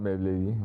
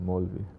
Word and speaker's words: Maulvi: Maulvi. Not Mawlavi, Maulvi.